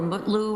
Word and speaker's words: Mutlu: Met is it Metloo or Mutloo or how do you pronounce his last name? Mutloo, your honor.